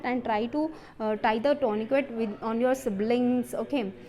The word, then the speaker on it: tourniquet: A tourniquet, spelling of tourniquet, tourniquet. Okay, Tourniquet, tourniquet. Its T is silent, okay, tourniquet can be used.